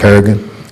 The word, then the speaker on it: Peregrine: Okay, Peregrine? yeah, Okay. Peregrine. Good. Peregrine, like Falcon.